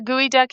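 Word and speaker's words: geoduck: And, um, do you know what a gooey duck is? No, tell me. No. So, it's spelled geod duck.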